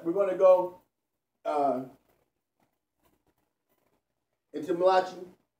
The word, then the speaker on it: Malachi: But we're going to go into Malachi. And that's the way I pronounce it for a reason, because the word ma'lach is what we see, and then chi represents energy, and the word mala,